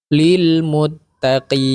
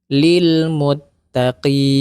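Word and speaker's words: لِلْمُتَّقِينَ: dahulu Lil Muttaqin nah sama dengan huruf mim huruf nun juga ketika dia sukun atau berhenti Kita membacanya huruf nunnya mesti mengalir suara Lil Muttaqin seperti itu ada bunyi dengungnya ya tapi tidak terlalu banyak Lil Muttaqin Nah itu huruf nun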